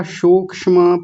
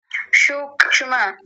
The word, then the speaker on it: सूक्ष्म: सज समाधि ठीक है सबसे पहला सूक्ष्म पता नहीं आप मूर्धन्य शकार लेकर के आए थे और यहां भी आप तालव्य शकार लेकर के आए थे। इनको ठीक कीजिए। सूक्ष्म सूक्ष्म फिर से बोलिए। सूक्ष्म ये पहले श क्यों ला रहे हैं? स होता है ना ये सांप वाला स तो सूक्ष्म दंतीय सकार। सूक्ष्म।